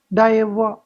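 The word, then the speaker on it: d'Ivoire: 2023 वाला ठीक है कोटे डावा डावा सेसे कहते हैं जैसे डे डेवो कहते है डेवो य आर इसमें साइलेंट है कोटे ठीक है डे ऐसे कर इसको प्रोनाउंस करते हैं यह अफ्रीका का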